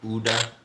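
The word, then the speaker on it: OODA: You know, they have what it's pronounced like UDA, which is observe, orientate,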